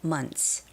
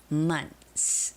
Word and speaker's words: months: And Taeji, you asked about the pronunciation month and months, right? So, when there's s after the th sound, you don't necessarily have to make the th pronunciation. So, it can just be months. Months.